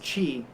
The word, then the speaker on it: qi: and then you'll see chi and they're both pronounced qi but one looks like key because it's a